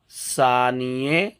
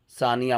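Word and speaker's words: ثانیه: تلفظ پہ دھیان دیجئے۔ ثانیے، ثانیہ مت پڑھیے گا، ثانیے، لسے، مثلث، اساس۔ ثانیے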